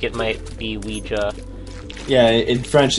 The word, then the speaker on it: Ouija: you call this the Ouija board it's not a Ouija uh it might be an American accent thing oh but I think I've always pronounced it Ouiji even though although reading